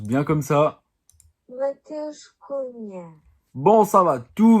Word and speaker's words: Matheus: Aujourd'hui on va parler de Matheus Cunha, on va juste vérifier si ça se prononce bien comme ça. Matheus Cunha.